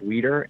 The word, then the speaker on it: Wieder: google my name wieder and it's wi e de are the eyes before the e and it's pronounced leader and if you just